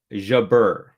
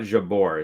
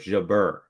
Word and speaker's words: Jabeur: is your bird so what she says is owns Jaber so maybe not Jabor Jaber owns Jaber okay I